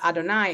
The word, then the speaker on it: Adonai: all right and and the one that we pronounce Adonai is actually not what's written on the paper